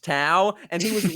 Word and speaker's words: Dao: when we did um Dao pronounced Tau and he was wrong